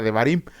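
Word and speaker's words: דברים: Qué significa Deuteronomio bueno en el hebreo antiguo Deuteronomio se pronuncia como l J debarim que significa Estas son las palabras así Sencillamente son las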